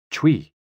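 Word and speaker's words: 吹: Chui, pronounced like chui, with a forceful exhale, which is also associated with the kidneys.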